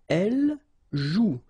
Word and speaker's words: joue: if you look carefully, you've got the combination of the vowel O and U, and together, you know that they produce the sound OU, okay? And it's exactly the same rule, so you've got this after, but then clearly you don't pronounce it.